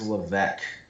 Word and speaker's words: Levesque: or levesque it is levesque it is a silent s i don't know why there's an s there that you don't pronounce but that is how